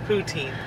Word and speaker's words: poutine: It's poutine.